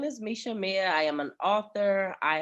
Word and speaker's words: Meisha Amia: I am here with Miss Meisha Amia. Did I pronounce that right? Yes, you did. You got it. Come on. Yes, I know. Listen, when people see my name, they always like, is it Felicia?